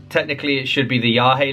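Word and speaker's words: Yagé: all right um and then I read the yag Letters by William S burrow and Alan Ginsburg now technically it should be the yahi letters cuz that's how it's pronounced it's what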